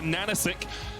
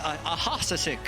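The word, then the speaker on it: AHaHaCiK: For those viewers, it's spelled, you see it, it's a Hasasik or whatever, but it's a Nanachek, because the H's, as far as his in-game name, are meant to look like N's.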